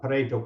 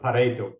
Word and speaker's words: Pareto: familiar with the uh parto principle uh you have to say it correctly right because it was named after an Italian right so it's the the Paro principle which is more commonly